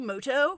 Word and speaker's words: Muto: turn wait a minute is that yugi mudo actually his name is pronounced yugi moto we'll see about that